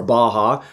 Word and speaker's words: Baja: the 1000 Baja races, or Baja, more properly pronounced.